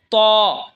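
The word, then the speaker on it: طاء: এরপর হলো ত। ত জিহ্বার আগা সামনের ওপরের দুই দাঁতের আগার সঙ্গে লাগায় উচ্চারণ হবে ত।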